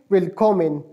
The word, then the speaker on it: Willkommen: Welcome को pronounce sorry spell इस तरह करते हैं, WILLKOMMEN, और इसको प्रोनाउंस किस तरह करेंगे, वेलकॉमेन, वेलकॉमेन, वेलकॉमेन प्रोनाउंस करेंगे।